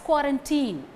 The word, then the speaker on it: quarantine: You would have come across this word in Tamil channels as quarantine, in English channels as quarantine, being pronounced as quarantine. If you refer its actual pronunciation in English pronouncing dictionary or in Google search, you can get the answer quarantine.